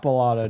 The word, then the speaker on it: Bellato: Fuck Bellato, dude. Yeah. Dude's name rhymes with gelato, but he sucks.